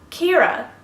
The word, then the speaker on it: Ciara: get to it Kirra this is actually spelled like the American singer Ciara but I don't know she just pronounces her name in a